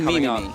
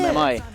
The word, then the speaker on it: MMI: You just say Mimi. MMI? Is that how it's pronounced? Just me, myself, and I. Oh, I get it. MMI. Okay, got you. I'll pronounce it MMI from now on.